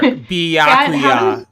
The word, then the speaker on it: Byakuya: BYA, it's pronounced Bia.